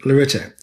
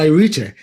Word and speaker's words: Lyrita: at the main magazine now notice how I pronounced the name Lorita not Lita as I have been doing so for 50 years Lorita rord was founded